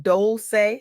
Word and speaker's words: Dolce: I'm your host Dolce, pronounced doulce like sweet softness whispered in French.